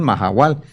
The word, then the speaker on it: Mahahual: para qué sirve, pero la pronunciación es Mahahual. Se escribe Mahahual con 2 H's, ¿qué estás haciendo?